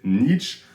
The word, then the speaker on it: Nietzsche: good and evil and yes I said Niche because it's the way we say it in French and I hate pronouncing his name in English so it's either going to